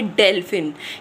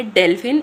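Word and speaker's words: Delfin: डेलफिन। कैसे पढ़ेंगे? डेलफिन।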